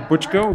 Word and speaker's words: Buchko: My name is Butchko. Last name is spelled Buchko, and I am with Lucid Motors.